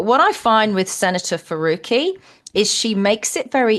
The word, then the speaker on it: Farooqi: It's so it's Farooqi. Farooqi. Yeah. Thanks. We really fui. Do you have any other questions? It's Farukqi. Sorry. It's Farooqi. She's corrected you twice. Farooqi isn't that hard to pronounce.